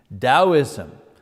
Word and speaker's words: Taoism: is taoism you know you pronounce the t like a d taoism that comes from china